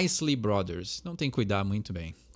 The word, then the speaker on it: Isley Brothers: que cuidar muito bem esse é mais um daqueles casos onde parece que tem acento não é isley Brothers é a isley Brothers não tem cuidar muito